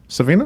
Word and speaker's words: Savino: Leonard Savino.